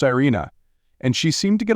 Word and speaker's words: Irene: Her name was Irene, pronounced Irina, and she seemed to